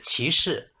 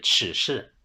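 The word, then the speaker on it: 歧视: 是可手，另外一个是歧视，我原来一直以为是耻视。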